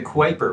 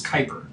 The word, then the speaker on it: Kuiper: that looks like the quiper belt but it's actually it's pronounced like like Viper the word Viper it's Kuiper comes with the Kuiper